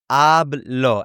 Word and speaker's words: hablo: So it would be ablo. And the h in Spanish is completely silent.